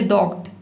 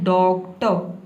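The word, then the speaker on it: doctor: आप गलत प्रोनाउंस ना करें, आप ये ना बोले डॉक्ट, डॉक्ट नहीं बोला है, आपको बोलना है डॉक्टर, इस तरह से।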